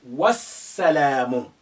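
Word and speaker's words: وَالسَّلَامُ: alif also becomes silent you say wassalamu notwa now the alif is silent because it's not at the beginning there is a letter before it the lamb is silent because we have the sun letter after it which is karen shadda and the shadow has an embedded sukun within it so they're both silent for different reasons because we have one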